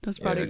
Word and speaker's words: Nosferatu: Did I pronounce that correctly? Is yeah, that how it is? Nosferatu, yeah.